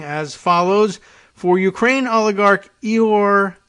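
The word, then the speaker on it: Ihor: follows for ukraine oligarch eor and they i guess that's the ukrainian pronunciation and spelling of igor i-h-o-r-e-hor igor kolomoiski the westin hotel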